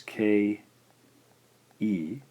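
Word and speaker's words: け: The fourth syllable in the K line is romanized as K. E and is pronounced ke.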